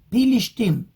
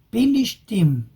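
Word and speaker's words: פלשתים: Pilishtim, Pei y con Shin. Pilishtim. Pero los árabes que se autoproclamaron en 1967 como Pilishtim no pueden pronunciar la palabra porque en árabe no tienen la letra P y que yo sepa tampoco tienen la letra Shin, así que dicen Bilisim.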